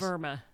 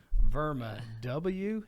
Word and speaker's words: WERMA: Now, Verma is a European German company and um in Germany W is pronounced like we in the United States pronounce it with a V sound. Yes. And it is it is Verma. Verma.